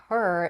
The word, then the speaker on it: her: have to saying ask her is perfectly okay but many native speakers would drop the H in connected speech you can do the